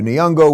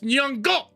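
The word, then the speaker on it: Nyong'o: And then Lepita Nyongo was in it. You're saying her name wrong. It's Nyongo.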